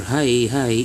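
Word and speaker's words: はいはい: The intonation for hi hi is a bit prolonged compared to hi. So this is hi hi. Intonation is level tone but prolonged.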